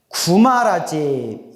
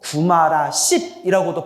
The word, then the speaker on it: 구마라집: 구마라집.